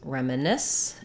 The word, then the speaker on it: reminisce: question about the words reminisce and sculpture so for REM uh Ness um we have last syllable stress we have the f